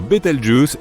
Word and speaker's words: Betelgeuse: supernova pour le moment quant à la manière de prononcer correctement betle je tu peux le faire comme bon te semble tu peux même dire betle juice si tu en as envie la supernova 1987A a